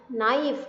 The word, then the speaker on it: knife: नाइफ, नॉट and knee, there the letter K is silent, right? Letter K is silent, and the sound of the second letter, that is N, is appropriate, is coming, it's coming more, like knock, no, knife, na, not, knee, right?